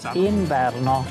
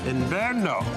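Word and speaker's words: inverno: Ino. Ino.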